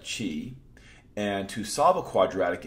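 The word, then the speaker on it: qi: quadratic inequality we get q and I which if you're a Scrabble player is now a permissible word and we pronounce that Chi and to solve a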